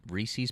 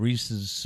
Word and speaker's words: Reese's: Some people say Reese's, I've always said Reese.